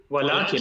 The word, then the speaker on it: ولكن: ওয়ালাকিন নাকি? ওয়ালাকিন, জাস্ট একালিফের যে রেগুলার টান আ ওয়ালাকিন। ওয়ালাকিন বেশি লম্বা করার দরকার নেই, ওয়ালা বেশি দরকার নেই, রেগুলার।